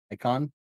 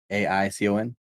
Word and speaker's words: AICON: Icon, but it's with an A. AICON.